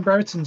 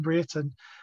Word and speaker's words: Brereton: I should be calling him Brereton, shouldn't I? That's yeah. New pronunciation, Ben Brereton.